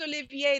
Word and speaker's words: Olivier: got to get well once it becomes Olivier the AR silent Olivier Olivier but I called him Olivier and he didn't like